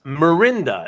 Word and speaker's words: Mirinda: okay oh so you uh Mikhail you you mispronounced it at first and it's mirinda is a competitive soda really I I've never